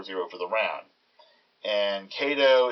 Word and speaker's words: Kaydoh: for the round and kato is basically a pronunciation of k a deuce or kedu or basically king ace ii and those three cards